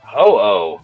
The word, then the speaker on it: Ho-Oh: is this Who or Ho-Oh? How are you pronouncing that? I usually just say ho. Ho-Oh. Oh, okay. Hello or something. That's Ho-Oh. Yeah, exactly.